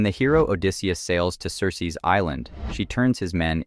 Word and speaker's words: Circe: One of the best-known witches from mythology, Circe or Kirke as the ancient Greeks probably pronounced it, is the daughter of the sun god Helios and an Oceanid Perse.